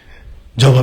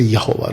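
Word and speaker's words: Yahweh: जहोवा witness वाले बुलाते जहोवा, जहोवा। जे हम बुलाते यहोवा। राइट, जो सही उच्चारण है यहोवे, यहोवे, यहोवा।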